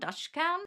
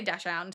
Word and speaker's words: dachshund: also known as a dachshund or I've seen some people pronounce it like da- dachshund Dutch hound. I don't know. In Australia we say dachshund.